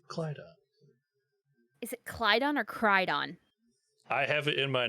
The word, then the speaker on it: Crydon: Lord Carthus, Duke of however that is going to be pronounced. It'll be Crydon, C-R-Y-D-O-N.